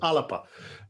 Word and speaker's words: Alba: but you're quite correct the garlic pronunciation's alipa uh so uh we'll